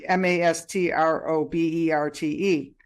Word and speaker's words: Mastroberte: And I'll have the links in the chat here so that you know how to reach her, because the name is like Mastroberte, which is pronounced Birdie, Mastroberte.